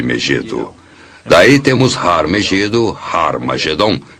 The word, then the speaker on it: Armageddon: testamento escritas em grego armageddon tem o som atirada no início o que significa que era pronunciada com h originalmente era raro mas geddon